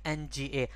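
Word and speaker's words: ငါ: right chama female speaker na this is the sound it's like nga not an a right not na right it's a na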